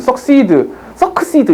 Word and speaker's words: succeed: succeed 이렇게 하지 않잖아요. 그죠? C 발음을 한 번밖에 안 하는데, 두 개 나왔잖아. 이건 뭐냐면, 한국어에서 배우는 자음동화, 순행동화, 역행동화 이거랑 비슷하다고 생각하시면 돼요.